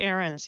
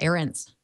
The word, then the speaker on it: Ahrens: to be with you am i pronouncing your last name correctly ahrens yep that's right errands right on all right